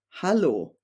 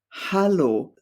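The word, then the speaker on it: Hallo: German word for hello hello so it's almost written the same just with an a sound as the first vowel and as for the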